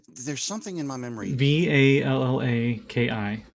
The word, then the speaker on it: Vallaki: Vallaki. So Vala, like Valhalla, Yeah. and then Ki, Valaki.